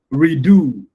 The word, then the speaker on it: redo: Do is a basic word. Re is the prefix. Redo. So the re in that context is a preface. You don't stress a preface. So you can so it is a do that will have to be given prominence not a re.